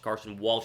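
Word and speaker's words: Carson Walch: named Carson Walsh Khalsa Carson Walsh is how you say his name like Carson Wentz but not he is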